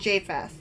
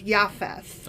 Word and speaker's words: Japheth: okay okay so noah sons again were shem ham and jfess and actually i've been pronouncing japheth wrong because the j is a y so it's yafes ah okay um that